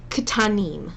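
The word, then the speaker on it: קטנים: same with words like katanim. So make sure you pronounce both the K and the T, and if you're having trouble doing that, put a little I in between it.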